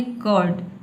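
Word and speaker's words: curd: र को साइलेंट रखना है। जो ऊपर आप देख रहे हैं इस तरह से जो रेफ दिया है इसको आपको क्या करना है? साइलेंट रखना है। आपको बोलना है कर्ड।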